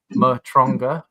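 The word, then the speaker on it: Matranga: Last name pronounced Matonga."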